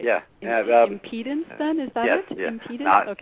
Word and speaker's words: impedance: it's a it's a contribution that causes an impedence uh I know men don't like that word but it's actually impedance I think am I pronouncing it wrong in